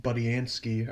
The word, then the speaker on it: Budiansky: Actually, I guess fun fact: our friend Bob Budiansky. I think I said, I don't know if I pronounced his name wrong last time.